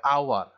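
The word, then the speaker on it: hour: এন এইচ ইউ ইউ আর, এটার উচ্চারণ হবে আওয়ার, সুতরাং এখানেও এইচ এর কোনো উচ্চারণ নাই, তো এই জন্য আমরা তার পূর্বে এন ব্যবহার করব।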